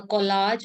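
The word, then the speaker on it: collage: कॉलाज, एक तो कॉलेज होता है जिसमें अपन पढ़ते हैं, और एक कॉलाज होता है। कॉलेज की स्पेलिंग में यहाँ पे आता है ई, COLLEG, कॉलेज। कॉलेज मतलब जहां अपन कॉलेज में जाते हैं पढ़ने के लिए। ये है कोलाज।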